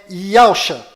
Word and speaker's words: Yahshua: O verdadeiro nome do Messias está do lado direito da sua tela e a pronúncia dele é Yahshua.